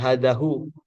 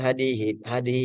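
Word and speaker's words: هذه: Berarti dia posisinya tetap dibacanya hadihi. Dia itu mabnu tidak hadahu. Karena dia seisinya mabni. Jadi ketika bentuknya seperti ini ya langsung aja baca hadihi begitu.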